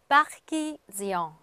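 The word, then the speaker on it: Parisien: 근데 en, 엉 발음이 나야 되는데요. 앞에 i가 있기 때문에요. 요거는 앵 발음입니다. 그러니까 에 발음에 앵하고 비음을 해주시는 건데요. 요새 프랑스 사람들은 앵 너무 그렇게 얘기를 하지 않습니다. 그래서 약간 엉처럼 하시면 돼요. 그래서 파키지앙 그렇게 발음하시면 됩니다.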